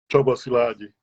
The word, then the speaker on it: Csaba Szilagyi: And I'm telling you right now, I'm going to butcher his name, so I'll let him pronounce it correctly. Csaba Szilagyi.